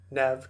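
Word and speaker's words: Neve: how to say it Nev Campbell it's nev yes that's wrong okay back to back to Nev Campbell which is insane that I'm pronouncing it like this all of a sudden after years decades of saying Neeve okay all right well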